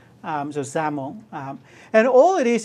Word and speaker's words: XAML: language and it's pronounced ZL kind of sounds like you're pronouncing with a z um so ZL um and all it